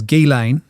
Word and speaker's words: Ghislaine: the correct way to say her name is Ghislaine.